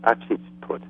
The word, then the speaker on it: Hatshepsut: Hatshepsut, I think it's pronounced Hatshepsut.